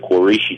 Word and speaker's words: Quraysh: a desert nomadic tribe known as the Quraysh, or some pronounce it Qurayshi tribe.